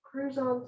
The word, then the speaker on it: Crouzon: me growing up with cruise on syndrome uh it's like croutons but with a z everyone always asks how